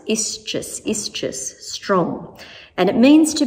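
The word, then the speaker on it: ἰσχύς: The Greek word for strong in the New Testament is quite tricky to pronounce, ischus, strong.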